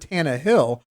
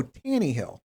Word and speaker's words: Tannehill: how you say it's i've heard tana hill but you go tanny hill i not as good